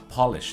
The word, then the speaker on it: Polish: รวม ถึง คำ ว่า polish นะ ฮะ คำ นี้ สะกด เหมือน กัน นะ ฮะ แต่ ออก เสียง ไม่ เหมือน กัน คือ ถ้า เป็น สระโอ Polish คือ อะไร ที่ มา จาก โปแลนด์ ประเทศ โปแลนด์ นะ ครับ ถ้า สระเอาะ